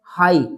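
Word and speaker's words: high: Next है हाई। एच आई जी एच। यहां पर पूरा जी एच साइलेंट है।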